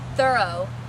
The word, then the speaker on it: Thoreau: home of Henry David Thoreau or more correctly pronounced thorough he was friends with Ralph